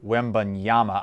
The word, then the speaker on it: Wembanyama: young man from france victor wimbon yama i believe uh that is that is how it's pronounced i'm not 100 we'll